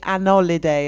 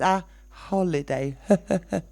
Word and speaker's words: holiday: on about the pronunciation do pronounce the h yeah okay I I hear people say an holiday as well it's a holiday very very few words